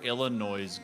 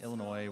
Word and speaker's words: Illinois: Junior for this other illino no's group and I know that I'm saying it wrong you know it's Illinois whatever s is there but I feel like